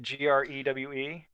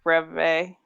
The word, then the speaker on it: Grewe: We at least know it's not Grew. It looks like it rhymes with you to me, but okay. So tell me about him. Why is he popular here? Gregor says it's Grewe. Grewe? Yeah, Greve.